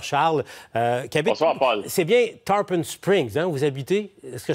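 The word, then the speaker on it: Tarpon Springs: de tempampabé bonsoir Charles euh quiabite c'est bien tarpen Springs hein vous habitez est-ce que je prononce correctement ok parfait c'est bien ça oui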